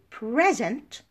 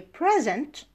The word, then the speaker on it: present: Sara stress word stress sometimes the stress changes the part of speech and changes the meaning for example present she gave me a present stress here is on the first syllable but if I say I am presenting a lecture I present now present the stress is on the second syllable and makes the verb